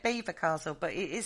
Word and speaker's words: Belvoir Castle: say that about your beaver castle yeah yeah but we say it is that's not how you spell beaver no you're right i'm